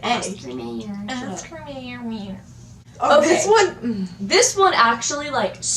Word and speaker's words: Oscar Mayer: You say Meyer because it's an E. Not Mayer, but it's an A. Oscar Mayer. Oscar Mayer.